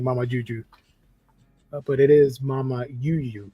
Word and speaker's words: Mamayuyu: the story let's see Mama you you art is very cute I'm saying Mama Juju and that's not how you say it because Juju is like j instead of Y but Mama Juju sounds